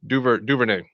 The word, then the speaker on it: DuVernay: Ava Duvernay.